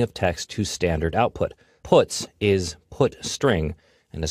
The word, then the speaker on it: puts: are the most popular they are pronounced print F put car and puts each function is designed